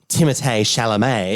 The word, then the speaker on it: Timothée Chalamet: Then you add in Timothée Chalamet. Yeah, which is the correct way to say his name, by Thank the way.